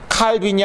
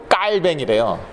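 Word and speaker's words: Calvin: 스위스로 이제 갔지만, 그래서 그게 칼빈이 아니라 그건 영어식 발음이고 깔뱅이래요.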